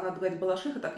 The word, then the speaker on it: Балашиха: ударением на А в Москве в ходу оба ударения и даже песни есть девчата я после того мне написали не надо говорить Балашиха а надо говорить Балашиха так я говорю про балаш про балаших Потому